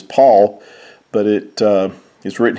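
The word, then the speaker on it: PAVL: says the Epistle of now notice how Paul was spelled here it's p a v l and that's because the V and the U Were carried the u sound and the V actually was a new sound that came into our language but it actually carried the u sound as it would have been PA pronounced as Paul but it uh is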